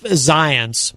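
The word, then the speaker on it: Zients: disease expert and jeff zions by the way i love that uh his name rhymes with science jeff zions the white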